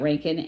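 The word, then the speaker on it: Reintgen: like yeah love Scott Ranken and by the way you don't uh write his name the way you pronounce it his last name is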